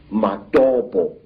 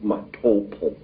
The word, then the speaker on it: Matopo: And one of these parts of Africa, sir, is a remarkable place called the Mountains of the Round Rocks, Matopo, wrongly pronounced Matopo, in Zimbabwe.